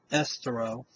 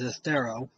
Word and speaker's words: Estero: Congratulations to the whole committee that put on the walk down in Estero, or I'm not even saying it right. It's Estero.